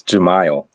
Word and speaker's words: Jamal: um is it well how do you say your name jamal jamil it's it's jamal all right definitely would